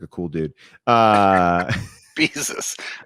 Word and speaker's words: Bezos: I mean, I like to plug it because Bezos seems like a cool dude. Bezos. I love how you mispronounce his name like Jesus.